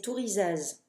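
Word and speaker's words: Thurisaz: Ça, c'est Tourizaz. Alors, Tourizaz s'écrit T-H-U.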